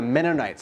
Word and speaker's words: Mennonite: Then they're like, no, let's call them the Mennonites. So it's actually a curse word. So how you pronounce it is like Menno, like a Menno. Mennonite, like night as in nighttime.